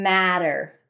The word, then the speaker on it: matter: But that didn't matter.